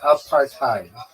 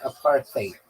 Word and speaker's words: apartheid: In American English, it sounds like a part time. In bring British English it sounds like aparthate.